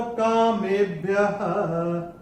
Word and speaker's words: कामेभ्यः: अक्षर है स, और विसर्ग के बाद श या स आता है, तो विसर्ग का उच्चारण आधा श या स होता है।